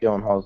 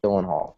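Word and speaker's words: Gyllenhaal: different pronunciations of Jake dylen Hall's last name we have dylen hall and then Jack said Dylan Hall so which one is it well I say as in G so I say Gill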